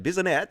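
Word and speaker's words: Bissonnette: His Twitter account was among a handful of far-right accounts frequented by Alexander Bisonette. That's how you pronounce it.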